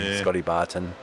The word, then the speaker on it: Bartain: It is me that's been saying it wrong. We're like, who's been saying it wrong? I haven't been saying it wrong. It was me. I'm sorry, Scotty Bartain.